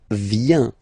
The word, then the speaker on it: vient: Then il, elle, vient. Final T not pronounced.